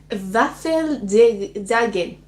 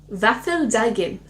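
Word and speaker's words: Våffeldagen: In Sweden, this Waffle Day is known as Waffeldagen. Waffeldagen. I think I did a good job with that pronunciation, which sounded a lot like Varfrudagen, which is Our Lady Day, a day that celebrated the Virgin Mary's conception.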